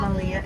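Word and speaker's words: melia: They're pronounced Malia in Hawaiian.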